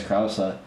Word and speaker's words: Krause: Well, because my name is Krause or Kraus, right? But the way that they pronounce it there is Krause, and everybody's like, "Oh,